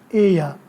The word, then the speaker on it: ella: She, ella, ell, ella. Double L is pronounced as Y in Spanish. So, she is ella, ell is ella.